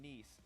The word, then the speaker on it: Nice: the summer finals in Nice, not nice, how I keep mispronouncing it. Nice.